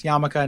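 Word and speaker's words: yarmulke: time I realize that it's yamaka not Yule I just think it's funnier to say yuckle yeah so is there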